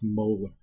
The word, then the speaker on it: molar: symbol capital gamma and it's pronounced molar just like the teeth they start off with